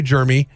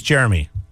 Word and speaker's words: Jeremy: Obviously, if somebody's looking at you and they say, "Hey, Germy," then That's not my name. then My name is Jeremy. Jeremy is a different name altogether.